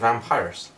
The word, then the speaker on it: Vampyrouss: Oh, and you pronounce our band Vampyrouss. Yeah, like papyrus.